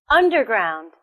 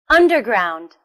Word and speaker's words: underground: second word is underground underground where is the stress it's also on the first syllable listen underground underground last weekend he went